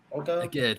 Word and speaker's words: Djed: Djed, but yeah.